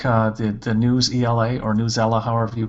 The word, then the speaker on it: Newsela: My teachers really like the News ELA, or Newsela, however you pronounce it, so NEWSELA, and I see that it's no longer always free, so I think that's a good sign.